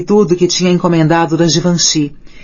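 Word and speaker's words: Givenchy: Ela não tinha ficado exatamente entusiasmada quando lhe mostrei tudo que tinha encomendado da Givanhi e acidentalmente pronunciei como lia em inglês: Given te.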